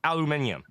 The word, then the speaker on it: aluminium: It's a metal, so it's aluminium. But we screwed it up because one news reporter decided to call it aluminum. And then everybody started to pronounce it as aluminum.